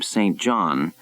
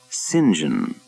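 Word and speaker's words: St. John: and he never said he had left Bermuda pronouncing his name Saint John and had returned pronouncing it and insisting everyone else do too Sinjin Saint John had rallied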